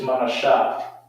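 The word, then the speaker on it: Menashe: And you spell that in the Hebrew is Manashah.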